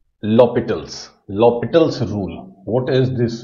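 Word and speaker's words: L'Hôpital: It's written like this and pronounced L'Hopital's.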